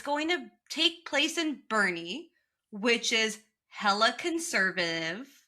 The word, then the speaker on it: Boerne: It's going to take place in a town called Boerne. Like Bernie Sanders.